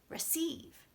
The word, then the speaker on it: receive: course it's going quickly so the stressed part of this word is actual over here on sieve so that part has to have a very clear vowel receive this part does not have to have a clear vowel so it actually stops sounding like rhe and it sounds like this schwa schwa pronounce me ruff